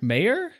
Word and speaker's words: Meyer: by Stephanie Meer mayor I normally hear mayor Stephanie mayor look at that we didn't have to debate for five minutes about how to say her name so well just watch it's going to be Meer now hi um I'm Stephanie